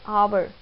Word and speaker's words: hour: I am speaking it like the h is silent. I'm speaking it like hour.